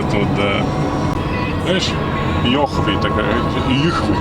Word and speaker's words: Йыхвы: Знаешь, Йыхвы такая, Йыхвы читается так.